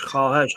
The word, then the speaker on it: خواهش: شما خواهش هذه واو معدوله تكتب ولا تلفظ لانه جت بين الخاء